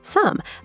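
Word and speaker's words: 삶: Sam is pronounced sam. Wait, actually, I need to correct myself here. This is one of our exceptions. For lum, we actually pronounce the right consonant, the m. So sam sounds like some.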